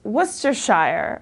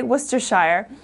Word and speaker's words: Worcestershire: we don't use often in America but its Worcestershire okay Worcestershire so this is a country in western central England it's also a kind of sauce so Worcestershire my English teacher for example is from Worcestershire